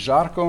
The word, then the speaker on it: Zarko: I'm Zarko, or the Serbian pronunciation is Zarko, a little bit nicer maybe, but people are always struggling with that.